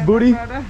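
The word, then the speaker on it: Budi: Could I please have a mango madness booty? Is your name pronounced buddy or booty? Booty. Booty. Nice to meet you, booty.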